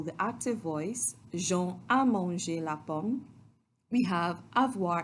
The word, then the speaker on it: mangé: But in the first example, the active voice, Jean a mangé la pomme, we have avoir in the present tense and the past participle of manger, which is pronounced just like the infinitive, but it is spelled M-A-N-G-E, accent aigu, acute accent.